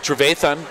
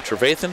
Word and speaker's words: Trevathan: I think with Trevathan, I don't know, how do you pronounce his name? Trevathan? Trevathan. Trevathan, you got it.